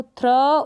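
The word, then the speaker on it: through: टी एच आर को थ्र, ऊ, थ्रू बन गया, जी एच साइलेंट है, थ्रू।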